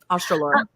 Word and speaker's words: Australorp: But I have one of my favorite chickens to raise are the black, I think you pronounce it Australopes. Mm-hmm. Australorp.